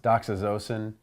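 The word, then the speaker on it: doxazosin: torez erson docks addison i've also heard it pronounced docks as Osen but I've always pronounced at Doc's assasin and then card era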